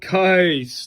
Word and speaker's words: Kais: And I wrote a very obnoxious note that it rhymes with rice because my mom taught him and that's what he told her how to pronounce his name.